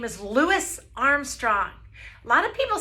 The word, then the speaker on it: Louis: this is Louis darling listen to how he brings out the S so let's say his name correctly it's Louis Armstrong he was born